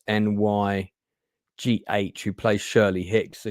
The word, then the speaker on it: Nye: Just by the way, just to clarify, Anna Nye, and I'm not sure how you pronounce her surname. It's Nygh, who plays Shirley Hicks.